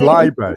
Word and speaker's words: Leiber: It's Leiber. It's Leiber. So it's it's German.